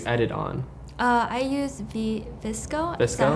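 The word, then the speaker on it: VSCO: how can you edit on I used the viscose know how it's pronounced vseo yes yeah yeah I just yeah and then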